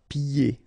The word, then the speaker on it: pieds: And then when you get this combination here, it's ye, pieds. Okay, so you don't hear the D.